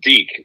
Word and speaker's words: Deke: Well, first of all, just in case we have any Spanish-speaking listeners out there, it is pronounced Deke in America, but it's spelled D-E-K-E.